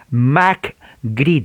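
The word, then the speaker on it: McGready: avivamiento se llama james mack grid y ahora como cesc o james como se apellida macri de mc en inglés la m y la c es mac al igual que mándanos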